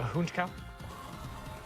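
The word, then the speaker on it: Honchkrow: I like Honkrow a lot too. How do you pronounce Honkrow Falls? Uh honchow.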